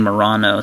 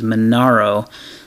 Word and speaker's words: Manaro: see the manaro and I think I've been saying Morano so my apologies manaro sell manaro collaboration excuse